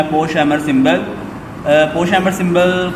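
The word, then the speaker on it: Pochhammer: ये जो POCH है, ये आपके पास पोश बनेगा और ये HAMMER ये हैमर, यानी कि इसको कंप्लीट आपने किस अंदाज में पढ़ना है, पोश-हैमर सिंबल।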